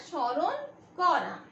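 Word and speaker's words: স্মরণ করা: देखिए यहाँ पे म क्या है, म साइलेंट हो जाएगा, तो इसको बोलना है शौरोन कोरा।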